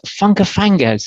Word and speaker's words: Funkafangez: You are better known as Funkafangez. Is that right? Is that the right pronunciation? Yes, indeed. Yes, sir. Indeed. Considered by others, other artists